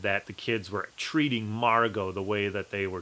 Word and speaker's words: Margot: you pronounce that name Margo it is not Margot okay it's just like ballet or filet or Chevrolet you don't say the T at the end of those so this one was